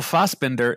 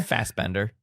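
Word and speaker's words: Fassbender: sure anybody would go to IMDb and Michael fosbender is it is that how you pronounce his name Fender fast Bender but um he um had to actually work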